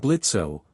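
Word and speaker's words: Blitzø: I'm Blitzo. The O is silent.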